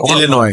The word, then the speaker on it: Illinois: Illinois. Illinois. Right. S is silent.